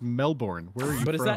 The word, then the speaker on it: Melbourne: Florida and you're like oh look they have a melbin here too and they're like what the fuck it's pronounced Melbourne is that one noteworthy